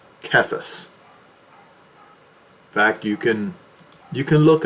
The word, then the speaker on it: Cephas: It's pronounced as Cephas.